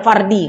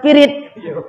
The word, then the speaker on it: fardi: Jauhar pirit. Kenapa pula disebut pirit? Fardi, bacanya fardi. Oh, tak tahu barisnya, jadi dibaca pirit. Oh, udah masyhur pula tuh jadi istilah ya. Nah, yang betul bacanya jauhar fardi.